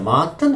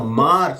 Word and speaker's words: Maart: Martin, how do you say Mr. Mr. what? I said January, February, March, Mr. Maart.